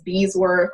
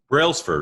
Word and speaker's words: Brailsford: First of all, nobody could ever pronounce my last name, right? I was Beesworth. I was Bradford. Nobody ever. Brailsford, right? Brailsford.